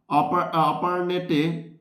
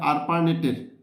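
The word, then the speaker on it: ARPANET: কোন প্রোগ্রাম অপারনেটে পত্রপের সূচনা করেন? কোন প্রোগ্রামার কি বলছে? আরপারনেটের ভুল করছিলাম এর উচ্চারণটা আরপারনেটে পর্তালাপের সূচনা করেন এটা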